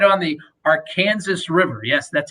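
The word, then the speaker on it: Arkansas River: atmosphere the ballpark is sits right on the our kansas river yes that's how it's pronounced um but it's uh it's it's a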